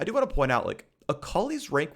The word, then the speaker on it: Akali: It is pronounced Yone. Say it with me. Yone. Let's move on. Alkali. Akali's coming out with some buffs.